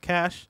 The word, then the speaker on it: cache: of that today probably cash is pronounced cash yeah I've heard cached before there are different meanings like I'm gonna cash a some data versus this is a cache of weapons you learn something new